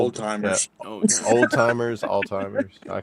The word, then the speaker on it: Alzheimer's: Alzheimer's.